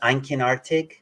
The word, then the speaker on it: einkinartig: Well, thank you guys again for coming on, and I encourage anybody watching to subscribe to, how do you pronounce it, Einkenartig?